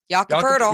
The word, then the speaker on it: Jakob Pirtle: Mike in the chat wants to know, why do you guys pronounce Pirtle's name with an R? Because that's how you pronounce it. Jakob Pirtle.